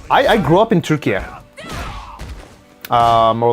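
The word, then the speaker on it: Türkiye: Um the the correct way to say our country's name now is Turkey. Turkey is the animal. Turkey is the country.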